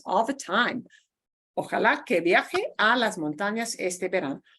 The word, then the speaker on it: viaje: viaje. Viaje. Viaje. Kind of hard to pronounce, isn't it? Yeah, viaje. Viaje. Viaje. It sounds just like the noun viaje, but here it's acting as a verb.